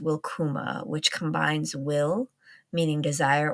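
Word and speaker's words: wilcuma: So when I say welcome, I think of the word welcome coming from old English and it uh is pronounced wilkuma which combines will meaning desire or wish and kuma meaning come.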